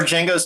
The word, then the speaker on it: Django: Where Django's talking to the man at the bar and he's like, "My name is Django." The D is silent and the guy's like, "I know."